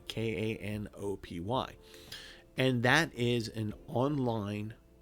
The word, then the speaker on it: Kanopy: But if you have a library card, you can set up for a thing that's called Canopy, spelled with a K, Kanopy.